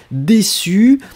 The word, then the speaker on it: déçu: Donc, déçu, DE accent aigu, c'est cédille. U, et on prononce vraiment su su su, hein, déçu.